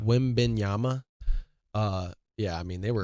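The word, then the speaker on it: Wembanyama: Wimbenyama. What? Wimbenyama. Wimbenyama.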